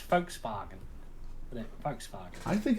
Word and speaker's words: Volkswagen: is if it's not the Germans pronounce the v's with the w well that they don't say vaults or is it do they they say but an F so it's Volkswagen Volkswagen I think it's